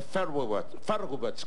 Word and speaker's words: Feuerbach: Lo dijo Carlos Marx en las famosas tesis de Feuerbach. ¿Cómo se pronuncia?